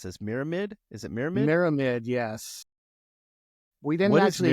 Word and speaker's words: Myramid: How do I pronounce this? Myramid? Is it Myramid? Myramid, yes.